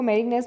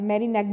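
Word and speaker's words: Mérignac: आप इसको मेरिग्नेस भी बोल सकते हैं, मेरिनेक भी बोलते हैं इसको. सो दोनों इसका प्रोनंसिएशन है, आप देख लेना कि आप किस में कंफर्टेबल हो. वैसे इसमें जी साइलेंट है, सो मेरिनेक इसको प्रोनंसिएशन करते हैं, मेरिनेक. आप इसको मेरिग्नेक भी बोल सकते हो, बट इट्स लाइक मेरिनेक.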